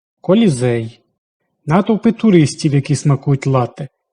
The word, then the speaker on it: лате: Натовпи туристів, які смакують лАте такий правильний наголос у назві цього напо́ю що готується з гарячого збитого молока і кави паста, піца та піцЕрія